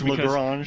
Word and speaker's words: Lagrange: Is it Lagrange or Lagrange? It's Lagrange. I think depending upon what part of America or the part of the world you're from, it could be a different pronunciation there. You know, Daryl reminds me all the time it's Lagrange, but if you're from